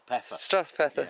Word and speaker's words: Strathpeffer: Drew is a local, lives in how do I pronounce it? Strathpeffer.